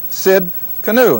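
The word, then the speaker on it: Tsidkenu: now in the Hebrew this is Jehovah Sid Cano and that's spelled TS i d k n u and it just simply transl ated means the Lord is our righteousness but originally it's Jehovah Sid canu now I like that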